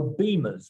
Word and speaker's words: Bimmers: She's just celebrated 8 years with, well, I think it's retro beamers, because it's something to do with BMWs, but it's spelt bimmers.